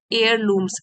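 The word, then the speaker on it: heirlooms: and family एयर लूम्स एयर लूम्स H silent है तो क्या होगा फैमिली एयर लूम्स इसको बोलेंगे एयर लूम्स तो इसका मतलब है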